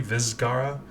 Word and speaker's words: Vizcaya: my research on it, this is a reference to a town in Florida that's spelled very similarly, but instead of an S, it's a Z. Vizcaya.